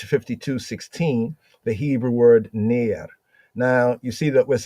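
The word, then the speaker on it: נר: for lamp right so we have near phonetically that's how it goes right there near near so bdb Brown driver is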